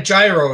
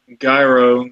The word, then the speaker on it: gyro: You don't actually pronounce the Y, I think it is, or the G, so it ends up sounding like hero.